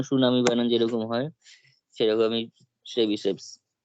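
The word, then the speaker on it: Tchebycheff's: শেবিসেভস inequality, মানে বলছি শেবিসেভস inequality, কিন্তু এটার বানানে কিন্তু টি আছে, ঠিক আছে, টি এর উচ্চারণটা এখানে হয় না, যেমন সুনামি বানান যেরকম হয় সেরকমই শেবিসেভস।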